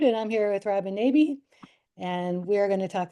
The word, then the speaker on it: Nabi: exactly when people ask, then I say it's Nabi like Cabby or Tabby. Okay, very But good. I'm not offended. Sometimes I get, so I get the